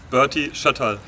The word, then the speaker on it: Berti Schotterl: question how do we say your name properly Bertie shuttle shuttle yes your pronunciation Mexico doll squad alum fine I don't